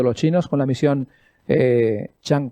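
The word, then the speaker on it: Chang'e: chang 4 y no change como dicen los algunos americanos o ingleses no es change oa no es cambio chang es el nombre de de lo chino para la luna eh la luna en chino se dice así no no es change no no tiene nada que ver con el término cambio americano aquí tenemos alguna imagen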